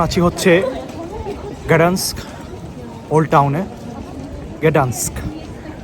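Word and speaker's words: Gdańsk: গ্যাডান্স্ক জার্মানিতে আসলে এটাকে উচ্চারণ করে ডান্সিক, উচ্চারণ করে না, বলে আর কি ডান্সিক। আর যেটা হচ্ছে ইংলিশে গ্যাডান্স্ক।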